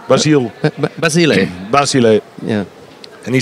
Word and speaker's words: Basile: uh yeah what do you think of uh Basile or how do you pronounce his name basil Basile Basile yeah and he says total totally unpredictable